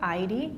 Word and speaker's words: ID: So the word ID, for example, is pronounced on the first syllable, ID.